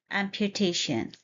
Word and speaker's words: amputation: of a new word, amputation. Let's break down the pronunciation first. It's a four-syllable word, amputation. Point to be noted are, here is the schwa sound, which is a sound, and we stress on the third syllable.